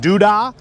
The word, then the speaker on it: Duda: a small youtube channel my last name is pronounced duda so as you can see from the shirt it's zippity's garage so thank zippity doodah so zippity's garage is